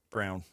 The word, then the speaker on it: Braun: Brown. Why am I messing that up? Brown. It's spelled like Braun, but it's Brown.